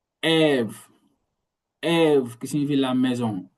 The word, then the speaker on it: ev: E, c'est toujours ouvert. Toujours ouvert, n'est jamais muet. Il faut toujours la prononcer, la lettre. Ève. Ève.